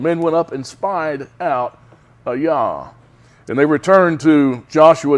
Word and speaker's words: Ai: from Jericho uh to a yah and I had to look that up I had didn't know how to pronounce AI for years I would go over this a yeah it's a yah okay which is near